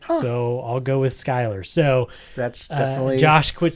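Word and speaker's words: Schuyler: I thought it was Schuler Krumer. It's actually Skylar Krumer. Don't really know how you get Skylar out of Schuylar, but that's his name.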